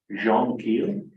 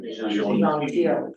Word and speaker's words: Jean Thiel: It's GINTIL, but it's Jean with a J, Jean Thiel. Jean Keel? Teal. Jean Teal. Teal.